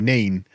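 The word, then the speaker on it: Nene: how do you pronounce the river nen I pronounce it correctly nen because I can read unlike those Northampton folk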